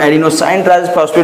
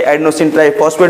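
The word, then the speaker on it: adenosine triphosphate: Pronunciation हम एडिनोसाइन ट्राइफॉस्फेट भी कर सकते हैं, एडिनोसिन ट्राइफॉस्फेट भी कर सकते हैं, जो कि ऊर्जा की इकाई है।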